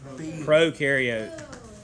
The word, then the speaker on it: prokaryote: Pro rhymes with no, remember?